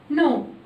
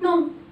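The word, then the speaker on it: know: الKN لو جت في اول الكلمه الكي بتبقى سايلنت مش بنطقها، يبقى العلامه الحرف اللي تحتيه علامه حمراء ده هو ده اللي هيبقى سايلنت مش هنطقه. يبقى لو الكلمه بدات بكي ان بنطق الان على طول مش بنطق الكي.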